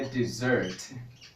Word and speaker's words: dessert: E a pronúncia desta palavra, por exemplo, é dessert.